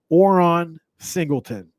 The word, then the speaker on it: Oran Singleton: Eastern Michigan, his name is Oron Singleton. That is, and I'll spell it for you guys. that are listening here. It is ORAN Singleton, SINGLETON. ORAN Singleton.